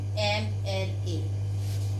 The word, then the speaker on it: MLA: Though the word is starting with M, but the sound is A. Okay. So it is an MLA.